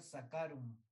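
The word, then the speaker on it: Saccharum: Si ves, se escribe Sacharum, pero se pronuncia Sacarum.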